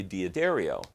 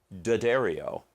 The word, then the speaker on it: D'Addario: this should be obvious i normally play diaderio or correctly pronounced d'addario but nobody calls it that i call it diaderio you go to sam